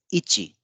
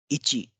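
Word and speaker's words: いち: one in Japanese is called Ichi Ichi and this is the kanji for one or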